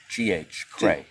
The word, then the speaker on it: Craegh: Spell it out. C-R-E-A-G-H. Craegh.